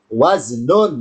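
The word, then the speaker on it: وزن: Ya, tulisan wazan kalau satu dalam bahasa Arabnya waznun ya. Waznun bacanya wazn. Wazn karena dibaca wakof, wazn.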